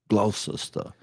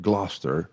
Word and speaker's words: Gloucester: I know when you find in the dictionary, you'll be provoked to pronounce Glossa, but our friends, the British, have informed me that it's actually their way of pronouncing it Gloucester by the way Township in New Jersey.